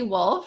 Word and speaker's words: Wolfe: i love it um my name is wolfe i just like the animal um and i am